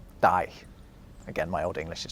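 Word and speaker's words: dæg: It has a G at the end, although it was actually pronounced more like a Y. It was something like die.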